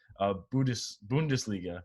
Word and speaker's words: Bundesliga: I tweeted this out today, that first game back where, and not just like a game, I didn't mean to disrespect the Bundesliga, right?